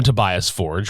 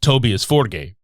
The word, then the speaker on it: Tobias Forge: man of the band most people call him Tobias Forge which he has gone with in several interviews but in his country of Sweden it's actually tobius forgate so if you hear me calling him Tobias